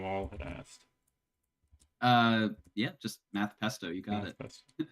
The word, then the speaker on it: Math Pesto: Um, how do you pronounce the name Math Pesto is a question that Logan Wall had asked. Yeah, just Math Pesto, you got Math it.